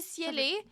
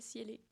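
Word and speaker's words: Ciele: que c'est ça s'appelle ciell oui je pensais c'était ciel ben c'est ciel mais on re un e fa que ça fait cieller ah oui ben j'espère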